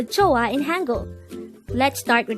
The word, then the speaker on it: 좋아: number 116 chah joah this is pronounced as a two syllable word the first syll is CH the second syllable is a pronounce it with me